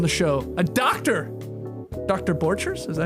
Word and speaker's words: Borchers: Borchers?